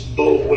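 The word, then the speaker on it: Boulware: It's Bowler is how it looks. B-O-U-L-W-A-R-E. Ken the Tom Bowler, Tom Bowler. Yes, sir. He was like one of my granddaddy's contemporaries, and now there's a Tom Bowler that's kind of just retired, and they are.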